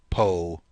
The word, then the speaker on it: po: Po. It's normally very short. It isn't like po or anything like that. It's po. Po.